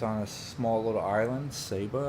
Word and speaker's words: Saba: a small little Island Saba I think is pronounced sa ba and um over in